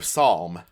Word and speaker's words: Psalm: Uh, Queen Psalm. I pronounced the P there because Princess Song and Queen Psalm sound very similar.